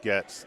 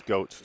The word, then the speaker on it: Goetz: I always thought it was pronounced Getz, but someone told me it was Goetz, so I'm going with it.